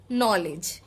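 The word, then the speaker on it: knowledge: Example, নলেজ, দেখো ডি এর পরে জি আছে, নলেজ, সোজা জি এর উচ্চারণ হচ্ছে সোজাসুজি, ডি এর উচ্চারণটা কিন্তু হচ্ছে না। জাজ, ব্রিজ, একই রকম ভাবে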